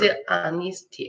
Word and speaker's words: dishonesty: Dishonesty H 발음 없어.